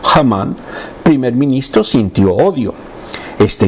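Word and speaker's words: Haman: Pero Hamán, le ponen en judío, en hebreo H, Hamán, primer ministro, sintió odio.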